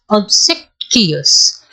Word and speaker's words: obsequious: Let me listen to how it is pronounced. Let me go ahead and put on my earphone for this one. Obsequious. Okay, obsequious.